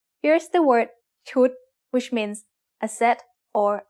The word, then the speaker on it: ชุด: What's the tone of ชุด? It's a low-class consonant with a dead syllable and a short vowel that makes it high tone.